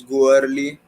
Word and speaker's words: Goerli: It's a German word, girly. Uh, I cannot pronounce that properly, but the Indian pronunciation, again, the Indian pronunciation is go early, live with it, and that is how it is spelled, GOERLI.